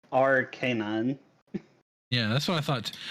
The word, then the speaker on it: Arcanine: actually quite funny because most people pronounce it Arcane but it's R canine yeah that's what I